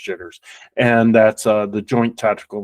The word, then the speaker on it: JTRS: JTRS is how it's pronounced, jitters.